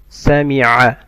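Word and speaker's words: سمع: Sami'a. Ayn from mid of the throat.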